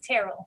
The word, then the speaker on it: Terrell: me just so i can make sure i pronounce it right sure it's terrible terrible okay dr terrell yes yep can